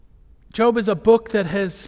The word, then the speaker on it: Job: Job even if they might occasionally mispronounce it as job job is a book that